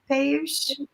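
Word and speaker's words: Piyush: Did I pronounce that right? Payush. Yeah. That's right.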